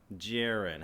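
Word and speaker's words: Jaron: daughter Aubry and my son what's your name jiren how do you spell that j-a-r-o-n and how do you spell your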